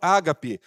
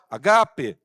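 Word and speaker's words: ἀγάπη: E é interessante que a palavra amor é a palavra agape no grego, que significa amor incondicional. Eu vejo muitas pessoas chamando amor ágape, mas a pronúncia o acento é no segundo A, agape.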